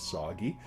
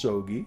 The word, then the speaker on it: Soi: my name sometimes will people will think okay his name is soggy it's pronounced SOI I will answer to soggy um what most people